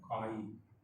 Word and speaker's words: chi: We know, write down, mole fraction of A, which is denoted by the symbol this, chi A, chi, pronunciated as chi, chi A.